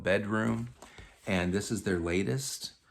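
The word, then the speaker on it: bdrmm: Um it's the band is called Bedroom, but they spell it B D RMM in all lowercase. That's how they spell it, but it's you know, you just call them bedroom.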